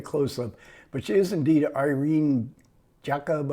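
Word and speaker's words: Irène Jacob: but she is indeed Irene Jacob I think is how you say her name and this was only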